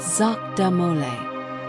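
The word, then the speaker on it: Jacques de Molay: Jacqu De Mole, pronounced Zach Damole, now in his 70s, was brought out.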